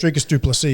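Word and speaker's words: Dricus du Plessis: Dricus Duplessis, yeah.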